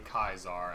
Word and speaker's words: Caesar: Or All Hail the Mighty Kaisar, as the Latins would pronounce it. Or Latins. How you would pronounce it in Latin.